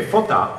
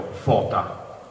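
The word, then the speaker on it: φῶτα: Ecco, Ercole, anziché photá, avrebbe offerto phota, cioè fuochi in greco. Quindi una semplice ritrazione dell'accento, ma con una parola che, se non è proprio omofona, è almeno omografa, possiamo dire.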